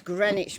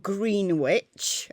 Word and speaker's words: Greenwich: set to gmt that's greenwich mean time not green witch as i've seen some